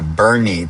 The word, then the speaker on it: Boerne: I'm heading down to Boerne, Texas, which is spelled b o e r n e which in Dutch would be boer boer-ne.